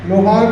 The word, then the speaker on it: लोहार: कि उस समय पढ़ा कौन कौन ऑफिसर लोहार को लोहारा, उसकी सूची बताइए, उसको बुलाइए, उसको बैठाइए, और वो कैसे पढ़ा लोहार को लोहारा, सबकी नौकरी खत्म होनी चाहिए। गलत क्यों उच्चारण किया, क्यों गलत उच्चारण किया, इस पर कार्रवाई भी हो रही है।